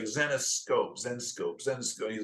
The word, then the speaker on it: Zenescope: everybody's like now now everybody's like xenos scope or you know they don't know how to pronounce it but zenos scope is essentially the name but you do even